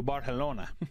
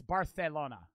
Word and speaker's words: Barcelona: But in it's Barcelona. Barcelona. Like the C is a TH, right?